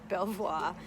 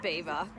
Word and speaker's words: Belvoir: in England I was frowned upon because I pronounced it Belvoir and it's actually got its beaver now we've just had the funniest conversation Lukas